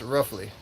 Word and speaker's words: Raffley: Oh, by the way, my name is Raffley. It's Roughly. It's pronounced Roughly.